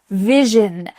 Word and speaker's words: vision: There's a lot of vibrations that are happening in this word. First, with the letter V, There should be some vibrations here happening with your lips. And then for the next part, we have vish. Can you make that sound with me? Vish. And then that final sound is in. In. Just like I'm in my house.